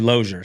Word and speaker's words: Losier: says it different but the actual pronunciation is actually ler so man loer sounded luxury you know I mean there's loir dude I've heard so many different things but as long as it's not loser anymore I'm happy with